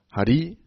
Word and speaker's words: Hari: If we talk about pronunciation, it's not the same. Hari, Hari, and then Hare Krishna, Hare Krishna, and then Hari, Hari, Bol. It's different.